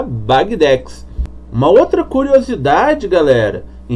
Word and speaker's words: Bagdex: é bag tá bom isso porque é o apelido do nosso querido Wagner né o criador aí da bagdex uma outra curiosidade galera